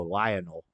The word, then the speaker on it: Lionel: lie Noel yeah that's I just kind of put a little more emphasis on the oh Lionel lion lion Lionel I kind of emphasize the O A little bit like